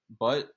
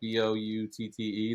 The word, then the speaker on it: Boutte: Butt is good, right? Is that how you say it? Boutte, the receiver. He's been pretty good. Sounds French to me.